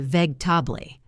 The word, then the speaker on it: vegetable: 3 syllables, or vegetable. We say vegetable.